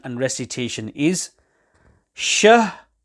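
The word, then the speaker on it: شَهْر: So the correct pronunciation and recitation is shahr, with a clear separation between shahr and the ra upon which waqf is being done.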